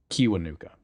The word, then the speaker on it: Kiwanuka: Kiwanuka.